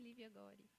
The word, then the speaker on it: Lívia Gori: Eu pronunciei corretamente? Sim, Lívia Gori.